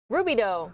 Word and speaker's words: Rubidoux: Rubidoux. Thank you to that viewer who let me know that's how you pronounce it, Rubidoux.